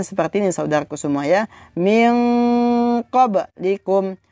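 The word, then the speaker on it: مِنْ قَبْلِكُمْ: Min qablikum, min qablikum, min qablikum, min qablikum. Jadi bukan dibaca min qablikum, akan tetapi dibaca min qablikum.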